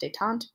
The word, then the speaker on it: détente: is a policy called détente. So I'll highlight that one here as well. I know it looks like détente, but it is French. It is pronounced détente.